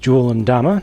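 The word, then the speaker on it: Jul 'Mdama: With these guys, I've again put the named characters in front, starting here with Jul and Dama, as the Sangheili themselves pronounce it in-game.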